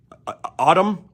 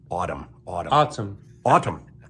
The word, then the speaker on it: ATUM: Autumn, ATUM.